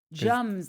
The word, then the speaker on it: Jums: Jums, like yums, but with a J.